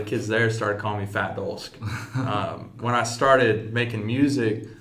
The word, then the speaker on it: Fat Dolsk: Is that how you say it, Fat Dolsk? Fat Dolsk.